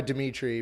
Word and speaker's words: Demetres: I go by Dimitri, but whatever you want to call me, it's all good. Yeah. Dimitri, no S. Well, there is an S, you just don't say it.